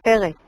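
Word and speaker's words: פֶּרֶץ: nosotros también pensamos que ese Paretz es una forma pausal, una forma de pausa para acentuar y que la pronunciación debería ser Peretz.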